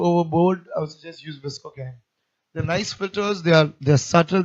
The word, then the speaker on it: VSCO: Look at ViscoCam. Visco's VSCO. That's how it's spelled.